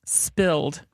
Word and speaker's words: SPLD: Tookie pronounced it spilled.